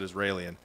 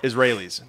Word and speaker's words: Israelis: I love you said Israelian. that's what MOP says. I love it. Rappers try to say complicated words. Israelian. go to war like Israelians. So what's the right way to say it? Israelis.